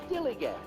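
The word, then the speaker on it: DILLIGAF: That's spelled D-I-L-L-I-G-A-F, dillygaff.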